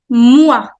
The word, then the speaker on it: mois: Le mois. Le mois. Mois. The pronunciation of OI is always oua. Oua.